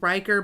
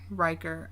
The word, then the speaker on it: Riker: Riker. I was gonna spell it RYKER. So Riker, like Will Riker from Star Trek: The Next Generation.